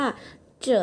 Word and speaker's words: 着: คะ สำหรับ วิธี การ อ่าน ที่ อ่าน ว่า เจอะ นะ คะ ที นี้ เรา ลอง มา ดู